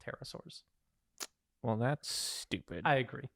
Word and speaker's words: pterosaurs: all it's called a paterasore now um is it that sounds incorrect but we will get to that we don't pronounce the p no that's just a